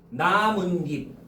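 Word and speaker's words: 나뭇잎: 자, 이것도 여러분들 우리 발음해봐. 나문딥 그치? 그럼 여기도 니은으로 발음되고 여기도 니은으로 발음되죠? 그래서 나무 플러스 입이기 때문에 시옷을 써주는 거야.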